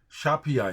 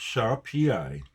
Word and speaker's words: Siapiau: But Siapiau is how you say it. Pronounced Siapiau, is Welsh for shapes, as the four members of the band create shapes in the air out of apparently nothing.